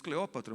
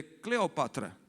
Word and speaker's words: Cleópatra: Por exemplo, Cleópatra, a gente diz Cleópatra, mas de fato o nome da mulher é Cleopatra.